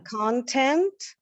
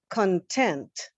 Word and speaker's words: content: Content, content. Right. So again, content, content. Mhm. And that's an example where we're stressing a different syllable.